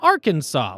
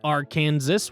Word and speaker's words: Arkansas: way they decided is Arkansas with three syllables a silent final s and accents on the first and last syllables mispronouncing it as R Kansas was labeled an innovation